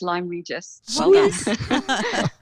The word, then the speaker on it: Lyme Regis: yes I can thank you and you did pronounce it correctly it is Lyme Regis so tell me a couple questions where I